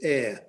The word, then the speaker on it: Ayr: But the main town closest to us is Ayr. That's spelled A-Y-R, and that's about.